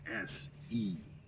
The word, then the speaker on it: Sean: My name is Sean, Sean. It's spelled like Sean Connery.